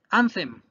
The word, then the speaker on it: anthem: vayan con las grafías anthem indigno acuérdese la th es en lengua entre los dientes e instancia a cabo